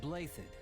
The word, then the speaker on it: Blaiddyd: They lack the crest of Blaiddyd, but there's no small number of nobles who might crawl out of the woodwork claiming royal blood.